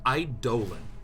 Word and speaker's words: Eidolon: Yeah, Eidolon is correct. Eidolon is the correct pronunciation, which just is horrible.